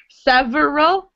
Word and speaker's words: several: It looks like three syllables, but when we pronounce it, it's not several, it's several.